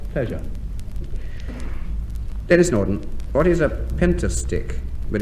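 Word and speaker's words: pentastich: Denis Norden, what is a pentastick? But it's spelt pentastitch. P-E-N-T-A-S-T-I-C-H. A pentastick. You said pentastitch.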